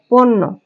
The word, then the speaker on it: পণ্য: তারপর দেখা আছে পণ্য, মূর্ধন্য নয় জ ফলা, প মূর্ধন্য নয় জ ফলা, এর সঠিক উচ্চারণ হবে পোকারে পো, ন, ন নিচে একটা হলন্ত, নৌকারে নো, পণ্য। এরপর আছে ল ভয় জ